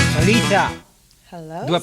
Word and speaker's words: Kaleeta: Kaleeta. Hello, Do I pronounce right? Of course. Kaleeta.